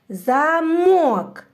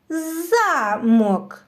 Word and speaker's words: замок: так другий а тепер переставим наголос і промовимо це слово з іншим наголосом замок вийшло У нас нове слово замок наступне завдання необхідно поєднати